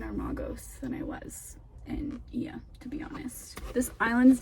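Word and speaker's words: Oia: Like, everybody talks about Santorini, and like I think it's called Ia, spelled like O-A-I, but it's pronounced Ia, I believe.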